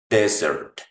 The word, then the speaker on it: desert: La pronunciación en la palabra postre, el acento va en la segunda, también en la segunda sílaba. Desert. Desert. Acá en esta última. En cambio, si quiero pronunciar desierto, el acento va en la primera acá.